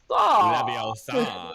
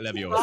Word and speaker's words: Leviosa: Leviosa, not Leviosa. Stop, Ron, stop. But no, it's pretty. LeBron James goes for like a massive dunk and he goes Leviosa.